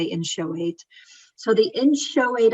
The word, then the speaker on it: inchoate: created what's called the in show eight offenses some people say in kuwait it's fine it's just different ways to pronounce it i say in show weight so the in show